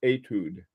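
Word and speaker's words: étude: did with uh with I was told let me see it's pronounced etude. This is etude number one rather than etude, but anyway, hi Hobby.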